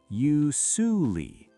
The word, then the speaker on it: usually: YOO-ZHOO-LEE. That's very common. It's a difficult pronunciation because of the S sound. It's not an S like snake. It's a zh sound, like measure or vision.